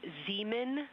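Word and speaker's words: Zeman: We believe that that is Zemen Crater. Zean. Okay. And can you say the first letter? I may be pronouncing that wrong.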